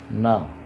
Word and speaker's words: ن: इसके बाद जो आवाज़ आती है उर्दू में है वो न की है, न न न। एन जो होता है अंग्रेज़ी में उसको न कहते हैं।